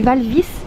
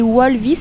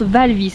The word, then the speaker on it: Walvis: lagoon suite aval fils b alors on dit val vi parce que on a toujours prôné c'est walvis mais ça se prononce val vi ne comptait pas une erreur et la mer